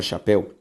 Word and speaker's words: chapéu: Quando eu olho a palavra chapéu, a sílaba tônica de chapéu, pel.